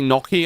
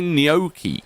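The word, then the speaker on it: gnocchi: We would say Noki over here. Uh but the Italian pronunciation is obviously different. I would have taken either answer though to be honest with you. Uh but uh Americans do say neokei which I think is cute.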